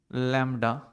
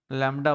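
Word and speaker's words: lambda: इसको प्रोनाउंस कैसे करते हैं, इसको प्रोनाउंस करते हैं हम लोग प्रोनाउंस्ड एज लैम्डा, लैम्डा बोलते हैं इसको, प्रोनाउंस्ड एज लैम्डा।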